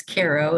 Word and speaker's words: Cairo: of the hospital i was born in in cairo new york they pronounce it cairo when it's in egypt but it's cairo in the hudson valley uh within a mile